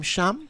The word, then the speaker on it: Shem: Holder, you pronounce his first name Shem?